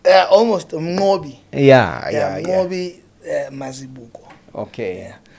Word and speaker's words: Mnqobi: almost Mnqobi.